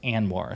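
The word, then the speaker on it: ANWR: to anoir a NWR it's an acronym it's pronounced anoir stands for Arctic National Wildlife Refuge um and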